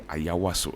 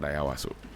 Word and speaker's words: Ayawaso: It's actually Ayawaso. It's not Ayawaso.